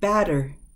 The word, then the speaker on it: batter: Yeah, but when we pronounce it, batter, like the person going up to bat the ball, batter.